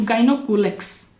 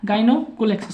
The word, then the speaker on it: Gonyaulax: और स्पेसिफिकली उसका नेम क्या हो जाएगा, तो गाइनोकुलेक्स, क्या, गाइनोकुलेक्स, स्पेलिंग लिख देते हैं आपका GONYAULAX, ये फॉर्म